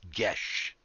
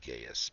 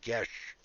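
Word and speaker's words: geas: quest or i guess gesh is a proper pronounce we've always said gaius but i've heard many different pronunciations but i looked it up once and gesh quest placed upon the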